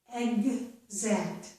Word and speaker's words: exact: Egg, that's the G. Zact, that's the Z. Exact, exact. Okay? Exist, exist. Example, example. Okay? So, when the letter X makes the G sound, it also makes the Z sound.